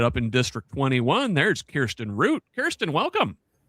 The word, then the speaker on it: Kirsten Root: My name is Kirsten Root. Thank you so much for pronouncing it correctly.